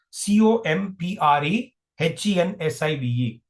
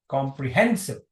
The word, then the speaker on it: comprehensive: There is a secondary uh sy uh stress on comp. Primary stress is on hen. So it's comprehensive.